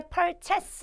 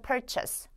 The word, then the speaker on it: purchase: 제일 먼저 여기는 purchase입니다 발음 하실 때 perchas 아니고요 여기는 purchase purchase 자 그다음에 두 번째